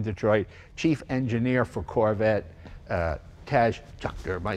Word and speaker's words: Tadge Juechter: best job in Detroit, chief engineer for Corvette, Tadge Juechter. Am I saying it right? It's the hardest. You got it, Jay. Tadge Juechter.